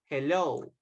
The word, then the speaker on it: hello: Okay, as you can see, we are using the letter H, but they sound like a letter J. So, hello, have, has, hair. Okay, remember to mention or to pronounce the letter H as if it is a letter J in Spanish.